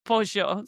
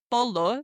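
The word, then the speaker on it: pollo: No, it is pojo. So now whenever you see chicken in Spanish, don't say polo.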